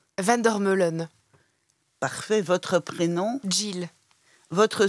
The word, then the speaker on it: Vandermeulen: pas pour vous hein votre nom comment le prononcez-vous Vander melon parfait votre prénom Jill votre surnom si vous